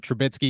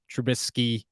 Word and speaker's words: Trubisky: here for this one why do I pronounce it trubitsky instead of trubisky because I'm from Scranton